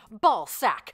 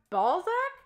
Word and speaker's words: Balzac: can smack it and you can whack it ball sack ball sack is the newest fun what it's actually pronounced Balzac yeah say one of the better toys to